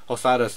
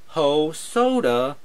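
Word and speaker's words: Hosoda: last name but then i simplified it by going whole soda then i'm just like when hosada so yeah that's how you could pronounce hosada's name just go ho soda hosada thank you the music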